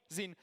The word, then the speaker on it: XYN: So, I'm from Sony and under the Sony we announced the new software brand called ZIN, pronounced as ZIN.